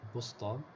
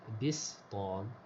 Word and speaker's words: بسطام: it has one dot, and this Ba has a kasra. Wasukun muhmala, and the letter Sin, which is muhmala because it does not contain any dots, has a sukun. So it's Bistam.